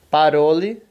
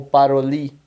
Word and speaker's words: parole: Então, o estresse, a tônica da palavra vai ser o ró. Então, você vai falar parole e não parole ou paroli. Não, parole, né? Enfim. Parole significa falar, né?